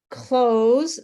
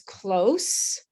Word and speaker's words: close: Close, the monster is close as an adjective is with a s sound. And please close the door is the verb, and it has a z sound at the end.